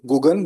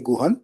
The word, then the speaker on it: Guhan: And I'm told now, not by Gugan, but somebody else, that it's supposed to be pronounced as Guhan and not. So people in TI4 only knew him Gugan, but the corrected sound should be Guhan.